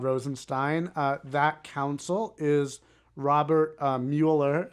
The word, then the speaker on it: Mueller: That counsel is Robert Mueller, if I'm pronouncing that correctly. It's actually pronounced Mueller.